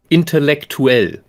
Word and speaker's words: intellektuell: word intellectual, we write intellektuell. Now you have this UE at the end where both of these vowels are pronounced distinctly, like in English, intellectual. Like the UA in English, we have UE.